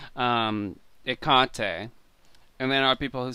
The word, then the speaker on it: Hecate: in the show i i don't like it when i hear hecate pronounce akate because it means totally two different things no let's talk about